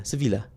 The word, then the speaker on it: Sevilla: Sevilla, is it Seville or Sevilla? Sevilla. And back then it was called Ishbili. Now it's called modern day Seville or Sevilla.